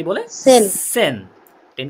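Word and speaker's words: zehn: আর এটা টেন টেন কে জার্মানিতে কি বলে সেন সেন টেন কে কি বলে সেন তাহলে দেখেন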